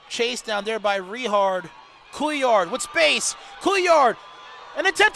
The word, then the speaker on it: Couillard: Couillard.